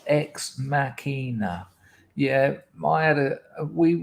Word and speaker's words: ex machina: can like sense that art clothes says it's pronounced ex machina yeah i had a we were going to